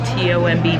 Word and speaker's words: tomb: Like tomb doesn't rhyme with comb, but it's spelled the same, like T-O-M-B tomb. And then he's like C-O-M-B coom. No, C-O-M-B comb.